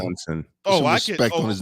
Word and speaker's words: Johnson: The Sid needed to surpass Magic Jensen. Magic Johnson. Say it correctly. Johnson.